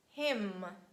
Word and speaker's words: hymn: Next one is letter N, and letter N is silent after letter M at the end of words. It's so logical, it's quite hard to pronounce m together. That's why omit it. Make it easier and say hymn, autumn, column.